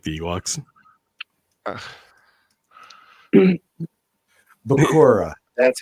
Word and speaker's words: Bakura: Bakura. That's how it's pronounced.